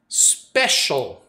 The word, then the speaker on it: special: Special, que é o nosso especial. Special. Só muda a tônica e o C-I-A-L geralmente vira shall, ok?